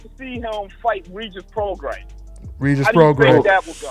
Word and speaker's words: Prograis: I don't know how to pronounce his name, but man, that boy, he's too much. Prograis, Prograis, he corrected me.